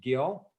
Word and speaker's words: Gill: gl is that correct gill soft g g like gelato okay which is just great